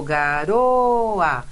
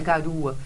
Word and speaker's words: garoa: O garoa. O O não tem som de U, não é garua.